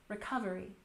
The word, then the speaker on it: recovery: Recovery has stress on the second syllable. Recovery.